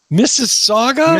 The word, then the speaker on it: Mississauga: how to say that Mississauga Mississauga is two sagas how it's pronounced so we were talking